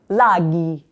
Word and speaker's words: laghi: Okay, la prima parola is laghi. Because G is followed by an H, it sounds like G.